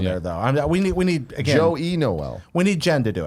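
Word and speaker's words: Joyeux Noël: Joyeux Noel. Joy is Noel. You're pronouncing all the letters. I'm doing there. it all wrong there, though. We need again. Joey Noel.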